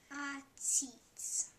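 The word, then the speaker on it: עציץ: And there you see the first one is the ayin, and the second one is the ts, the sadi. So why don't we try to pronounce that one? It's almost a tongue twister. Atsits.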